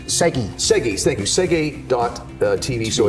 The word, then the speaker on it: SEGI: Check out, did I say it right, Segi or CG? Segi.